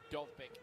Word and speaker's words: Dovbyk: Robert Lewandowski's first La Liga hat-trick last week leaves him just 3 behind Dovbyk in that race for the Pichichi trophy they give to the leading.